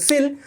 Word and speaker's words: coel: তো আমি বারবার বলছি COEL মানে কোয়েল না, উচ্চারণ প্রথম ক্লাস থেকে বলছি, COEL মানে হচ্ছে সিল।